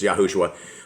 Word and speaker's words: Yahushua: good book it looks like the grandson of yahushua uh not not art not Joshua Joshua yeah yeah it's yahushua I'm actually I think Joshua's is yahushua and